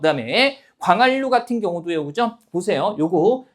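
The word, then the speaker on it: 광한루: 날로라고 했을 때 니은, 리을 만났는데 날로 이렇게 발음이 되고요, 그죠? 그 다음에 광활루 같은 경우도요, 그죠?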